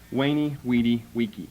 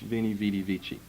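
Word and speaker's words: veni, vidi, vici: I saw I conquered Wayne weedy Wiki it's Latin for I came I saw a conquered we would pronounce an English Vini vidi vici Vini vidi vici Wiki however you want to pronounce it it means to us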